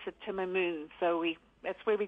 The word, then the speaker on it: Timamoon: spelled slightly different for the aces but you pronounce it timoon so we that's where we got our name